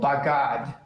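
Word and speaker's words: בגד: No, you'll have to accent normally the last syllable, bagad.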